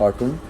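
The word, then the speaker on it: autumn: Word M एन यानी किसी word के आखिर में एम एन आ जाए तो उसमें एन साइलेंट होता है। जैसा एग्जांपल में हम देख रहे हैं ऑटोमन कॉलम और डैम इन सब में जो है एंड पे एन जो है वो साइलेंट है।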